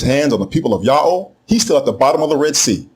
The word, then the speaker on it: Yahweh: He was told by Hebrews in the 1st century BCE that the proper name of the God of the Hebrews is pronounced Yahweh, exactly in agreement with the Egyptian record and with the much later Assyrian record.